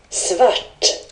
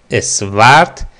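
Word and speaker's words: svart: گزینه ویت ویت س سورت رنگ بعدی که یاد میگیریم سورت سورت سورت سورت به معنی سیاه مشکی دوستان تلفظ اسورد یا سورت نیست گوش کنید سورت سورت سورت سورت سیاه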